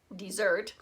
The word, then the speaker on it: Mount Desert: called Mount Mount Desert she pronounced it desert actually dessert ice cream cookies brownies